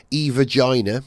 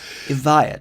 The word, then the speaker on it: Evija: And again, you you mentioned the Roadster earlier on, Tesla Roadster and the Lotus Evija, I think that's how you pronounce it. Evija, darling, Evija.